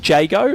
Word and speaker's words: Jago: Jago. There we go. Aaron Jago. So I'll write that down phonetically.